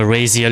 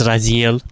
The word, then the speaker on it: Raziel: It's not rail in here. It's raziel. I need to pronounce it correctly.